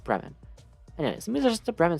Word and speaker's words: Bremen: I'll say Bremen. Because that's how Fremen is spelled, just with an F instead of a B. And unless all of my friends and I have been pronouncing Fremen incorrectly, I'm going to say that it's pronounced Bremen.